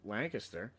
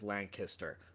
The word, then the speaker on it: Lancaster: Um, and finally, my wife, we were driving down this this this road in in Lancaster. Um, and if anybody listening ever comes here, it is Lancaster, not Lancaster.